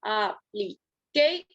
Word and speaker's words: application: Application. Está en la tercera sílaba, perdón.